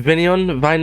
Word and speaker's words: Vine: Vine? Oh no, how did you pronounce Jeremy it? Vine, yes.